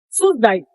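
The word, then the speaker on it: សួស្តី: Вспоминаем город Суздаль и убираем мягкий знак ударение на последний слой. Это привет. Здравствуйте. По-другому привет. Суздай.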